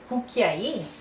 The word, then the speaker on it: cucchiaino: Even more difficult, let's do cucchiaino. That cucchiaino, it means little spoon, teaspoon. So, cucchiaino.